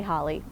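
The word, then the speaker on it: Holyrood: or palace of hollyrood it's spelled holy rood h-o-l-y-r-o-o-d but you say holly i'm not sure why but that's what you do but right now i'm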